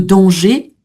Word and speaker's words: danger: Donc un vrai hiver, un masculin, le danger, ER, le digramme qui forme le son et, hein, sans prononcer le R.